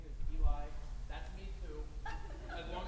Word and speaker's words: Eli: Is it Ellie or Eli? It is spelled Eli, but pronounced Ellie. Because when your mother brings